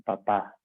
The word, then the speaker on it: papá: con un papa, sino con un papá, con acento en la última A.